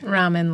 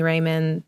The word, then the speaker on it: Rahman: Ramen, like the noodles. Oh, nice. Yeah. Perfect. Right, because her brand the is best Cup of kind Rahman, of noodles. so... It's spelled R-A-H, right? Yeah, M-A-N. From what yeah. Okay. Yeah, it's okay. I get literally everything. Some people call me Raymond.